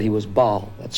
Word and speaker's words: Baal: we uncovered uh someone who said he was Bal that's spelled b a l ball was one of the earliest uh Devils the